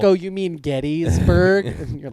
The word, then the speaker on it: Gettysburg: I went to Gettysburg. Oh, yeah. Which is how you're supposed to say it. Get That's how they say it there. Gettburg.